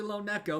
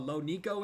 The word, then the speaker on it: LoNeko: It's officially Lone Neco, but Lo Niko is accepted.